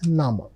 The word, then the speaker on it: Name: It's written just like English word name but the pronunciation is nama.